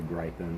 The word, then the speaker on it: Gryphon: been calling him the Griffin, but he's definitely a griffin. But it's not spelled Griffin, it's spelled Gryphon. And so, but it's definitely a griffin and the faux turtle.